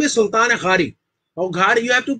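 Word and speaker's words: Sultan Ghari: the tomb of nasiruddin the correct name is sultan khari you have to pronounce it from the epic lotus which is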